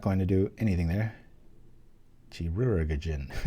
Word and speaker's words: Chirurgeon: Chirurgeon. I know I'm supposed to say it like surgeon with a Chirurgeon. It looks like there's about 3 extra syllables in there.